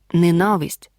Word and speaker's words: ненависть: слово ми не вживаємо наголос падає на другий склад ненависть запам'ятай з іменниками прикметниками займенниками